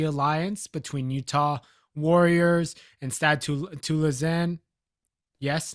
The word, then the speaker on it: Stade Toulousain: between Utah Warriors and Stade Toulousain. Yes, that's how you pronounce it in French.